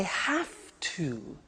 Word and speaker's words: have to: I have to. Notice I don't say V, I say F. Have. It becomes have to.